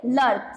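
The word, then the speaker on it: de Klerk: Mister डी लर्क, सी KLERK, its correct pronunciation is not clerk and all, its correct pronunciation is Lurk.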